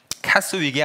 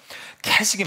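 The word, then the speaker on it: Keswick: 근데 이 캐스윅인데 이 S는 묵음이에요. 그래서 캐직입니다. 캐스윅이 아니에요. 어떤 신학책은 캐스윅이라고 적혀 있는데 잘못된 것이죠. 캐직이 맞아요.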